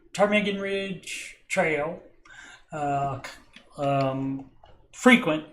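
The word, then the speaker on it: ptarmigan: right this from tarm I'm assuming the p is silent termigan tarmigan Ridge Trail uh um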